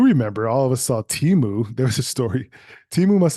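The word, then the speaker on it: Temu: all platforms last year but it's let pronounced Teemu they were in six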